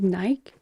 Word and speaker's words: Nike: So I recently found out that in other parts of the world, they pronounce these Nike, not Nike.